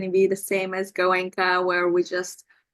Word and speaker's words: Goenka: How do you That pronounce was that? Goenka.